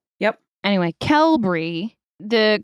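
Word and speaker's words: Qelbree: and Z's in our drug names yep anyway kelry the correct term for the mechanism of action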